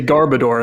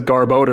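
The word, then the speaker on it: Garbodor: It's the same thing with uh um garboder. You say garbador and then someone says garboder and you're like oh I'm stupid.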